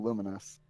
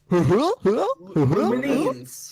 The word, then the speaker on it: Lumines: out loud before, so I've always read it as Luminines. Is it Lumens? I didn't know how to pronounce it either. No, it's Luminous.